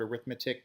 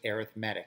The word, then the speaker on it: arithmetic: looks like the word arithmetic but because we're using it as an adjective we pronounce it arithmetic it's an arithmetic sequence